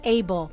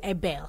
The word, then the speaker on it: Abel: in the bible okay so you don't say a bell you rather say able so is kane and abel all right all right